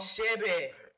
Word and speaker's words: Chebe: Spell it again for me. CHEBE. What's it called? Shebe.